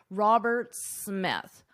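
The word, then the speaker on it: Roberts-Smith: so in this case you only pronounce One S Robert Smith Robert Smith if it were just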